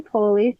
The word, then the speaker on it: Poli: a really special guest it's uh Poley she was in my I'm pronouncing your name right your last name